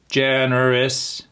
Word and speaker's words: generous: Let me say like a robot. Generous. Why don't you tell me where the syllable is? That's right. On the first syllable. Generous. And that u at the end turns into an i sound.